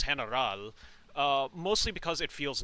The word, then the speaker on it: Heneral: Fair warning, I am going to be pronouncing the word general in the Tagalog or Spanish way, which is Heneral.